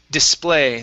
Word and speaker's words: display: that sounded great uh this word here is display the stress is at the end of the word a small display case